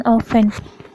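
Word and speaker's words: often: जब एस एफ के बाद टी आता है तो टी साइलेंट होता है। Example listen, ऑफन।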